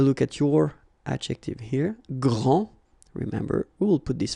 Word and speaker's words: grand: elles sont les plus grandes. Okay, so phonetically what you can hear is that this first form here for the masculine, grand, so you don't pronounce the final D, will be exactly the